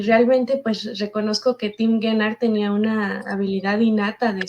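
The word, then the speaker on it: Tim Guénard: Se llama Más fuerte que el odio, ¿y cómo se pronuncia? Tim Gennard. Tim Gennard. Tim Gennard.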